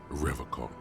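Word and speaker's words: Revachol: He pronounces Revocall with a hard K, unlike other people.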